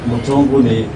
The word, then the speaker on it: Mutonguni: Mutonguni is in Kitui West.